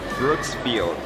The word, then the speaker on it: Brooksfield: A pronúncia em inglês é Brooksfield.